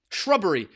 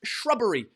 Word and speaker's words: shrubbery: And it's pronounced shrubbery. Shrubbery. Like rubbery, but with a sh in front.